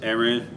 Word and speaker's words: Aaron: pronunciation of your name yes that is the correct pronunciation of my name it's aaron my whole name is